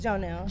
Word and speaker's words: Janelle: Is it Jonelle or Janelle? Jonelle. Jonelle, Yes. Okay, Jonelle.